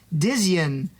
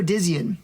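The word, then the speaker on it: Dzyn: actually a studio called Dian Studio Dian I believe that's how you pronounce it DZ y n they just changed the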